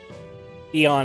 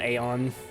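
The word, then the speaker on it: Aeon: either way it's like it's like Caesar versus kaisar Eon is technically a little bit more correct than Aon oh I misspoke I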